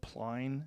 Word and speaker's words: Plein: Is it Yeah, Plein?